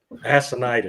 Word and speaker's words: Assonitis: Assonitis? No. How did you say it? You said it right. Assonitis. I said Assonitis. Assonitis. I just wanted to way to pronounce it that it didn't sound like ass.